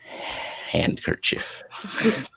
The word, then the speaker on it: handkerchief: Handkerchief. The I always D is silent. I forget that there's a D in handkerchief.